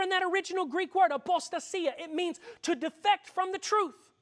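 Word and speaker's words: ἀποστασία: When he talks about the falling away, the Greek word that's used there is a Greek word pronounced apostasia.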